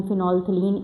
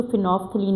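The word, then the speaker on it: phenolphthalein: Strong basis के लिए generally हम फिनोलथिलीन इंडिकेटर यूज़ करते हैं। याद रखें फिनोलथिलीन में इसकी स्पेलिंग में जो दरमियान में पीएच आता है वो साइलेंट है। आपने इसको फिनोफ्थलीन नहीं बोलना।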